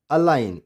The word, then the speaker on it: align: जी क्या हो गया, साइलेंट। SIN, ये समझ लिए कि SIN, साइन। DESIGN, design, design. ALIGN, अलाइन।